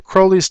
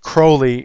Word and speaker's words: Crowley: card this is aliser Crowley's tarot card and you see uh uh he wanted his name actually pronounced Crowley instead of Crowley because he wanted to rhyme with holy and I don't want